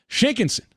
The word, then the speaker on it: Shinkansen: And it's going to be as fast as the Shinkansen, which I believe is how they say the bullet train in Japan.